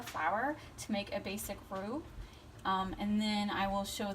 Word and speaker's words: roux: Roux? Am I saying it right? Roux, yes.